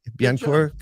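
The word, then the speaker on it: Bécancour: a battery materials plant in, how do you pronounce this word? It's Biencourt? Oh, yeah. Yeah, that's pretty good. BEA, Biencourt, Quebec.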